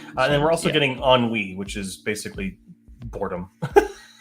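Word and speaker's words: ennui: which is basically boredom so on WE is that what yeah e n n UI I believe is what it's spelled as which is a French word for boredom okay or something similar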